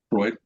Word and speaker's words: Freud: um f re u d how do you pronounce that guy's name Freud Freud Freud Freud Freud yes um Freud book uh